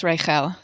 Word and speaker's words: Raichel: How do you say the last name? Do you know? I believe it's Raichel. Okay. Idan, last name Raichel.